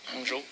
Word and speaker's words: Hangzhou: There was a G20 summit in Hangzhou. Is that how you... Hangzhou? Hangzhou? Yes. Is that how you Yes. pronounce it? Hangzhou.